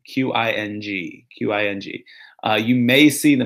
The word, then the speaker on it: Qing: Will the Qing Dynasty be called the Qing or the Manchu on the test, or both? It'll be called the Qing Dynasty, but it'll be spelled with a Q, Q-I-N-G, Q-I-N-G.